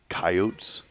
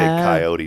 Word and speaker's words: coyote: it's the South Dakota Coyotes we say coyote down here that's what I say so they were all making not coyote yeah it is yeah um they don't know how to say it right friends go ahead and